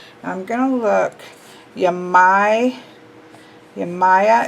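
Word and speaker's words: Yemaya: gonna look you my you Maya is how this duck is saying to pronounce it let's just peek while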